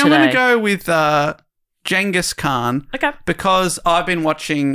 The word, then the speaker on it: Genghis Khan: They call him Genghis Khan.